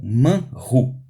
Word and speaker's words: manhu: Manhu. O que é ele? O que é ele? Então, no original está escrito manhu. Essa palavrinha, essas duas letrinhas, H e U, que a gente pronuncia ru, essa palavrinha quer dizer, de fato, ele.